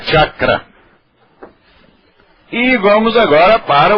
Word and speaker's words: chakra: mulher do Agno aqui é Agna á á chakra eigual agora para o CH e sh chakra